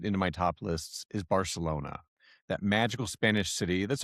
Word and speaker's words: Barcelona: Barcelona is indeed the correct Spanish pronunciation, but Barcelona is how Catalan speakers say it.